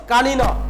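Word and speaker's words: কানীন: কি উত্তর হচ্ছে, কানিন, উচ্চারণ হচ্ছে কানিন।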